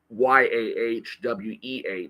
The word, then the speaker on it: Yahweh: for God in the Old Testament is Yahweh and that's pronounced y a we even though the four